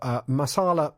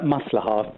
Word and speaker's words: Maslaha: Raheel Mohammed is the director of Masala Organisation. Good morning to you, Raheel. Hi, good morning. Good morning. Have I pronounced that organisation correctly? It's Maslaha, but that's okay.